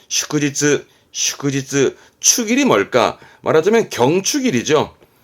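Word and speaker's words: 祝日: 발음은 슈크지츠, 슈크지츠.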